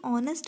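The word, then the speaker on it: honest: लेकिन ऑनेस्ट में क्या है, इसका उच्चारण जो है वो अ से होता है, ठीक है, अ से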